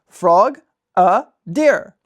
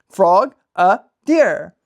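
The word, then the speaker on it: Frogadier: But guys, this is the proper way to pronounce this Pokemon. Frog a deer. Frog a deer.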